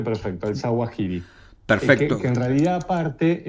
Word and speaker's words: Zawahiri: lo pronunciaste perfecto, el Zawahiri.